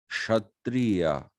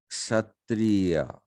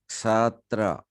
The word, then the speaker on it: kshatriya: It's not kshatriya, it's kshatriya. The actual pronunciation is ksatra, not even kshatriya.